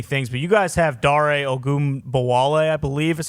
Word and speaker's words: Dare Ogunbowale: But you guys have Dare Ogunbowale, I believe is how you pronounce his name.